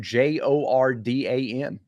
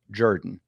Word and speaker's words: Jordan: It was spelled Jordan after Shug Jordan. Got it. You can pronounce it Jordan if you want to, but that's wrong. But you're wrong. You're incorrect. The correct pronunciation is Jordan.